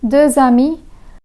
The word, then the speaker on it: deux amis: The two sets of words would be read as un ami and deux amis because the first words un and deux end with a consonant that is silent and the second words begin with a vowel. In such situations, the silent consonant becomes pronounced and its sound gets transferred to the next word.